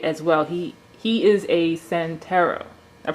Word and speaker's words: Santero: He is a Santero. I pronounced that correctly?